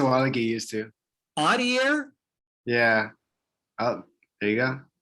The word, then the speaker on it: Adair: Adair?